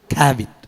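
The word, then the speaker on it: כָּבֵד: அதை எப்படி பேசுவாங்க அங்கே, எப்படி சொல்லுவாங்கன்னா குடலை எப்படின்னு சொல்லுவாங்க? கேரவ் அப்படின்னு சொல்லுவாங்க. சிறுநீரத்தை கிளையா, கல்லீரல் என்ன சொல்லுவாங்க? கேவிட்.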